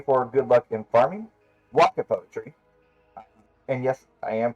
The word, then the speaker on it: waka: But it's also to pray for good luck in farming, waka poetry, and yes, I am pronouncing that correctly.